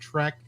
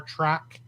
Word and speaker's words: Trek: i beat it into your skull that it's pronounced trek do you really just say it with star track i didn't possibly on that maybe let's stay